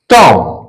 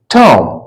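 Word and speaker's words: tomb: सीओ एम बी कम कम नहीं बोलेंगे B silent इसम क या क दूसरा उदाहरण हम लेते हैं टी ओ एम बी टॉम टम टॉम नहीं बोलेंगे म टम टम के माने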